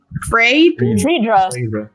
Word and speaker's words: Friedra: Friedra. Friedra. I say like It's like bring Deirdre.